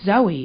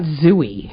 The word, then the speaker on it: Zoe: And you also say, instead of Zoe Deschanel, you say Zooey. Because it's spelled Zooey. It's Zoe. not Zooey. Zoe, she's the only one who spells Zoe that way. Well, it's Zoe. It's not Zooey.